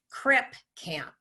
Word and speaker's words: Crip Camp: of that other movie, Crip Camp. So I may have said crib, I meant Crip Camp.